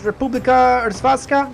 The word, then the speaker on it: Republika Hrvatska: Which says Republika Hrvatska.